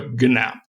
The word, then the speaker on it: GNAP: you that i think they've agreed on a pronunciation that has sort of a g on the front of it so it's more of a gnap and you'd mentioned justin